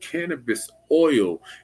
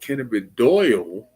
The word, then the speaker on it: cannabidiol: No, it's not illegal, but you don't need to call it cannabis oil. If anything, you would call it cannabidiol, which is not cannabis oil, but it's cannabidiol. Diol is spelled Diol. Cannabidiol. Cannabidiol. It's not cannabis oil, it's cannabidiol, which is known as CBD.